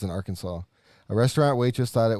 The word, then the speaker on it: Arkansas: i don't trust anything from arkansas because they got a silent s on the end and that's just pointless it says following the